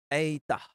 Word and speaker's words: eta: pada kata zat kemudian ada Eta eitah seperti pada kata merah nah ini me me